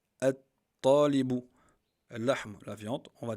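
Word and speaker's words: الطالب: Talibun, on va le prononcer, At-Talibu.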